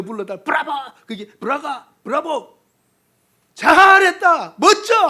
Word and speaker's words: 브라가: 이거 발음 조심하세요. 브라자가 되면 큰일 납니다. 이거는 브라가 골짜기. 브라가 골짜기. 점 하나 잘못 찍으면 이상하게 됩니다.